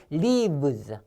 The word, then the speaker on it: leaves: 자, 그래서 요 V 발음 있잖아요. 요 V 발음도요, 그냥 V가 아닙니다. 윗이빨로 아랫입술 문 상태에서 푸 했잖아요. 요것도 마찬가지예요. 윗이빨 아랫입술 문 상태에서 V 하면 돼요. V, leaves.